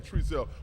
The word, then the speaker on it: Trezelle: So you pronounce my name Trezelle, but somehow on the internet, House Cat is out there.